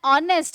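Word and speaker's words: honest: बहुत सिंपल सा है, ऑनेस्ट है वर्ड, यानी एच साइलेंट है और ओ से आवाज आ रही है तो ओ आ रहा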